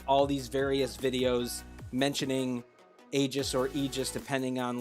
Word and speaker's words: Aegis: you, just like me, say Aegis because I feel like that's the correct way to say it. Even though I know that their video said Aegis, but you know. According to Google, we are correct. They are wrong.